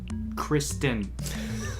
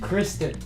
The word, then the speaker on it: Kristen: Kirsten. Say it right. Kirsten? Kristen. Kristen? I'm no longer friends with you.